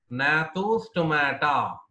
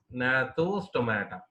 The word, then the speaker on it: Gnathostomata: Nathostomata. G is silent here. Nathostomata.